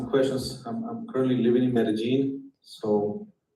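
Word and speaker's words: Medellín: Um, well, you know, if you want to make ask me questions, I'm currently living in Medigene. So, you said it right. Medigene.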